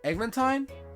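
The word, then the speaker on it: Eglantine: Egglantine. Egglantine. Like Valentine, but with an egg.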